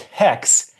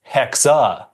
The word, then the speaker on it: Hexe: But before we get too far in, it's not pronounced hex, it's hexa.